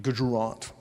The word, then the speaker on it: Gujarat: Three like like that like that like that just is that a south Indian name or it's Gujarat Gujarant what why did you why did you try and make it What do you do for a living?